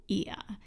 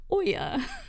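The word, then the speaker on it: Oia: And I would say in Santorini, you want to go to Ia. Yes. And it's spelled O-I-A. Saying that because I probably in the video, if I say it at all in the video, I'm pretty sure I say Oya or something crazy.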